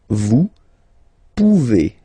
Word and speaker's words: pouvez: Then vous pouvez, okay? Classic ending as well for the vous form. A Z like that, okay? Remember you pronounce it E, okay?